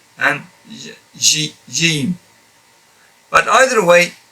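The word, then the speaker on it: ج: This is now Jim. Jim. A lot of brothers from different parts of the Muslim world, they pronounce this as Jim. It depends on whether you came from Egypt or Morocco in that part. They pronounce it as not as firm Jim like I'm pronouncing it.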